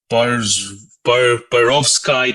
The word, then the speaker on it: perovskite: So excited stage interactions between perovskite to rose Bengal dye. Is that the correct pronunciation?